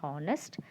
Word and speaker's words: honest: the example hecho nes honest h is silent so we start with o sound honest so in that